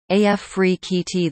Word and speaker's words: Afrekete: Afrekete Work at Home Jobs pronounced AF Free Kee Tee.